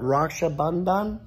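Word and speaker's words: Raksha Bandhan: We learned about Rakshabandan.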